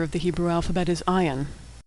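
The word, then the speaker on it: עין: the Hebrew alphabet is Ion ion is silent like Olive ion dips just a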